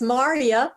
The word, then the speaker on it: Marya: That's Marya, rhymes with how are ya?